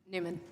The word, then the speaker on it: Neumann: Neumann, is it Neumann or Newman? Newman. Okay.